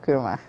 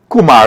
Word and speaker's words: kurma: So you can buy a book and you'll get a free pack of kurma. And all here, watch me. Watch me. They not Kumar, eh? They Kurma. Yes, kurma.